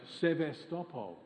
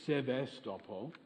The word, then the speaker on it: Sevastopol: In Ballarat, Sevastopol, or Sevastopol, but I believe its Russian pronunciation is Sevastopol.